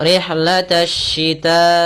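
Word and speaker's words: رحلة الشتاء: Cara membacanya alif lamnya tertulis tapi tidak dibaca maka kita langsung rihlatasyita.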